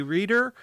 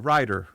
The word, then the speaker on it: Reitter: good so on behalf of my co-host tony reader this is writer reader writer writer writer i was gonna be